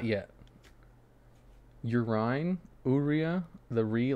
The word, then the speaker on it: Aurea: Aurea. It's like the cookie Oreo, like Oreo. Aurea. Urea. Aurea. Have you been watching Blue Lock? Not yet. Urine. Aurea.